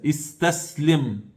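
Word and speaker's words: استسلم: Hoje, na língua árabe, se alguém chega até outro e diz para ele istaslim, olha a pronúncia, istaslim, ou seja, entregue-se.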